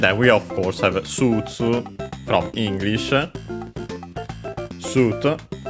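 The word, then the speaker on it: スーツ: And then we of course have Sutsu from English. Suit. We check its accent in the dictionary. Okay, accented on the su as expected on the first syllable, just like in English, Sutsu.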